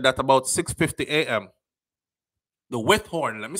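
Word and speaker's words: Withorn: So the Windthorne police reported that about 6:50 a.m., the Withhorn, let me say it right, because I don't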